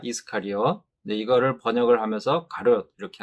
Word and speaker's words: 이스카리옷: 우리말 성경의 이 가롯은 원문인 헬라어로 읽으면은 이스카리옷 이렇게 발음이 됩니다. 이스카리옷.